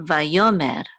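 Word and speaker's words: וַיֹּאמֶר: This is a mem with a sigul and a resh, which says mer, mer, va, yo, mer.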